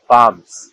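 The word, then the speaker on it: palms: এই এল আর এম পরপর থাকলে এবং পরে ভাওয়াল না থাকলে এল অনুসারিত হবে, সুতরাং এখানে এল উচ্চারণ হবে না, তাই এর সঠিক উচ্চারণ হবে কাম, অ্যামস, পামস।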